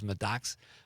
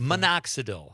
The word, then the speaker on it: minoxidil: But he also says medoxical. How do you spell that, Con? For hair growth. What is that word? Medoxical for hair growth? Minoxidil.